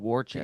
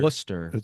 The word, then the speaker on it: Worcester: Like they No, Warchester. It's not Wararchchester. It's not Worster. Worcester.